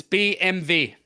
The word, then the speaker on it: BMW: Factory pretty much okay and it's BMV BMV BMV BMV no b b b b m v BMV yeah okay there you